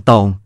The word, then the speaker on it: ฏง: คำ คือคำว่า ฏง ผมเขียน ฏ ปฏักกับ ง งู ออกเสียงว่า ตง ฏ ปฏัก อยู่ในภาษาขอมมี แต่ในภาษาเขมร ตำแหน่ง ฏ ปฏัก เปลี่ยนเป็น ฎ ชฎา ถ้าคำไหนออกเวียง ฏ ปฏัก จะเขียนด้วย ต เต่าแทน ดังนั้นคำที่เขียนด้วย ฏ ปฏักกับ ง งู ขอมออกเสียง ต็อง ภาษาเขมรจึงออกเสียง ฎ็อง หรือ ฎอง แปลว่า ด้าม เช่น เทือกเขาไม้คาน